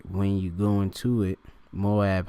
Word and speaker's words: Moab: All right, when you go into it, Moab, how you of course pronounce it in the Hebrew. All right, because it's Ma'awab. All right, Mawab.